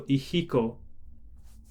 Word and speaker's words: ihiko: that's the letter h so ihiko is how i would pronounce this um numbers and then